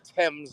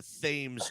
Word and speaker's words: Thames: cruise down the uh the Thames as I believe they call it uh been corrected multiple times still cannot pronounce it right I'm gonna call it I'm gonna call it the themes just to piss them